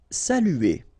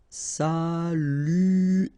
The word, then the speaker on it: saluer: Saluer. Okay, it can be quite difficult at the beginning. U here, saluer, saluer, saluer.